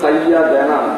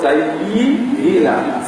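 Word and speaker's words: سيدنا: এখানে শব্দটা সাইয়্যিদা দেনা হবে না, শব্দটা হবে সাইয়্যিদিনা।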